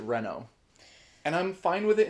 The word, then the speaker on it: Reno: I don't know, but in Final Fantasy Advent Children, they pronounce it Renault.